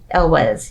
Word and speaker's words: Elwes: Yeah, and then afterwards, the person who plays Wesley, Carrie Elwes, I think is how you say his name. Yep. Elwes, yeah.